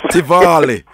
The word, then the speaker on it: Tivoli: And you see, I've coined their name, Tivoli. Right. So I coined that pronunciation because it sounds more lovely and more romantic. Oh, it sounds more lovely and more romantic. Yes. Tivoli.